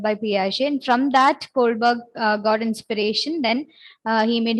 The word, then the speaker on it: Kohlberg: It rhymes with iceberg. Lawrence Kohlberg.